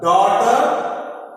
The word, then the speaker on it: daughter: In the word daughter, GH make the sound like silent. Daughter. Silent letters. GH are silent letters.